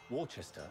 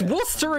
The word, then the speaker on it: Worcester: Worcester and Gloucester. It's Worcester and Gloucester. How the fuck can you not pronounce them properly?